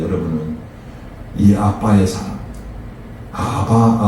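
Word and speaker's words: אבא: 때 여러분은이 아빠의 사랑 아바 아버지는 히브리어로 아빠 발음이 똑같아요 희한하게 아바 아버지가 히브리어로 아빠 아빠라고 바요 참 희한하죠이 믿음을 가지고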